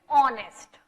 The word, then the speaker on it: honest: focus upon the pronunciation, okay now as I told you honest, okay honest में की starting हो रही है H से, H is not a vowel, H is a consonant, but then also what